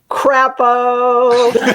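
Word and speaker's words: Crapo: coined by dr robert crappo and i'm gonna spell it for you because it's not like chapeau you know e-a-u it is c-r-a-p-o crap like like the marx brothers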